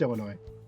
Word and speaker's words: Illinois: It's pronounced Illinois.